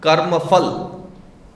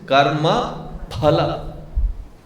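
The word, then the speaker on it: कर्मफल: In samskutam there is no syllable which pronounces as f. It is not spatika. It is spat. It is not p fb. It is p-b. Therefore, it is not karmafal. It is karma pala. It is spatika.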